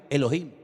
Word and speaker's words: Elohim: Y el primer nombre que conocemos de Dios, si empezamos a leer la Biblia desde el principio, es un nombre que se pronuncia Elohim.